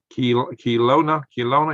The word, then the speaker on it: Kelowna: Kelowna, yeah, Kelowna.